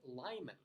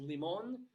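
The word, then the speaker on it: Limon: of those ones where it was a Spanish word it should be pronounced leemon but coloradans who say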